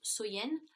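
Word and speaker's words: Samhain: était samen donc qui est prononcé qui se prononce soyen et donc il croyait que si vous voulez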